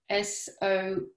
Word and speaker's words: SORSE: explained in a second source is pronounced like s-o-u-r-c-e source and we chose this